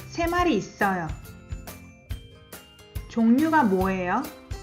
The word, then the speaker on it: 종류: As you noticed, I pronounce R as N. 종류.